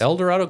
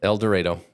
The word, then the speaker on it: El Dorado: El Dorado, Kansas.